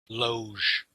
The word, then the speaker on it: Logue: He's nothing remarkable, but his partner is Donald Logue, who you Loge. recognize his face. Huh? Loge. Oh, okay. Well, I always Yeah.